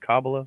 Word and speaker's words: Kabbalah: Is it Kabbalah? Is that how you say it? Yeah, Kabbalah. Kabbalah Harris?